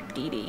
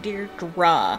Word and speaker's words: Deirdre: Bess calls her Dee Dee, and she's like, Deirdre. I know that second syllable's hard for you, but I learned it by age 5.